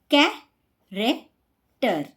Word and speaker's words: character: Character, character. Scheme, scheme. School, school. So, in these words, we pronounce CH as K sound.